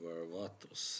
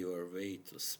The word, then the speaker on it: Varvatos: You know, rather recently, I started wondering about this company, which is John Varvatos, as I pronounce it, because I'm not American. Americans would say Varvatos, but I don't like that pronunciation, to be honest.